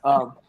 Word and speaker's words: Penix: That's actually how you say it. It's Penix.